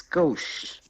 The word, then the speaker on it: gauche: How you pronounce it? Gauche.